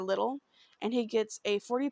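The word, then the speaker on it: Lidl: he goes to I believe it's pronounced little it's LL I we don't have that here LI or little and he gets a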